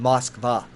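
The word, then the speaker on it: Москва: Moscow which I always it's actually called moskva I don't know why we can't say it when people say boss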